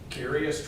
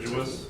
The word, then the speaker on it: deciduous: Dicarious trees. How do you say that word? Deciduous.